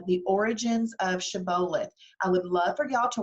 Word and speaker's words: Shibboleth: talk about that word Shibboleth that's the actual hebrew pronunciation of it from the book of Judges and in the book